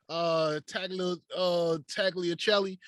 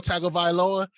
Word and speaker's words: Tagovailoa: Let me got Tua Tagliacelli. Tua T. Where you at? Tua Tagovailoa.